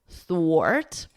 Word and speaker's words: thwart: So you could think of it like or, and then just add a T, and then wart, thwart.